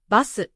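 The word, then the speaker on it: バス: For example, bus becomes basu, desk becomes desku. The added vowel makes the word pronounceable in Japanese.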